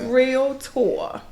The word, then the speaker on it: realtor: a lot I know the world always wants to add a syllable but it's real tour so what what um